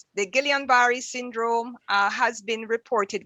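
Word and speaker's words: Guillain-Barré: sister will help me i think it's pronounced guillain-barre syndrome right uh let me see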